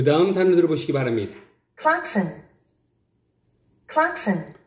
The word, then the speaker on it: klaxon: 우리 한국인은 이 단어를 크라숑 그러죠. 크라숑, 경적이라는 의미입니다. Klaxon, klaxon. 원래 상표명이었는데 이게 흔히들 우리는 크락션 크락션 자동차의 경적 혼이라고도 합니다. 혼. 근데 클락슨. 클락슨.